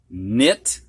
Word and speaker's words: knit: All right, we're going to have words now that have a silent K in them before an N. You don't hear that K. Knee, knelt, knit, knife, knew.